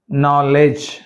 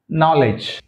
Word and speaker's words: knowledge: knock, not, kneel, knowledge. సో అంటే ఈ K మరియు N కాంబినేషన్లో K అనేది సైలెంట్, గుర్తుపెట్టుకోండి. నౌ, నీ, నాక్, నాట్, kneel, knowledge.